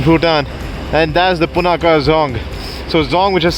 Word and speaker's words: Dzong: So right now we are one of the most beautiful places I've seen in Bhutan, and that's the Punakha Dzong. So Dzong, which is spelled as D-Z-O-N-G, in Bhutanese means a fort, and that really is one beautiful fort.